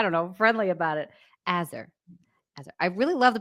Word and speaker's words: Aazar: How do you pronounce your name? Because I was saying Aazar. Is that correct? Aazar.